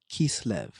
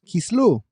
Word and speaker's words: Kislev: I am your host Yseph Lopez and today we enter Kislev or as we say it in some sphartic pronunciations Kislu a month rich with meaning that often gets overlooked in our celebrations.